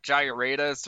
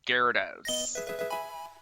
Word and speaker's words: Gyarados: Now, looking at the spelling, you'd think it's pronounced like Gyaradus or whatever, but it's pronounced Gyarados.